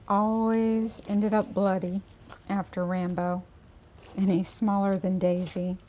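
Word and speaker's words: Rambeau: and Rambo is spelled R-A-M-B-E-A-U. Rambo. Kind of cute.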